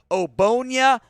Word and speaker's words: Ogbonnia: Otito Ogbonnia, the G is silent.